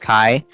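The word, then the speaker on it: χ: Like the Greek letter Kai, so it kind of looks like an X, but it's actually pronounced Kai.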